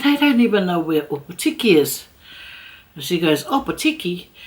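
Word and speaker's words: Opōtiki: I said Opotiki, but it's Opotiki.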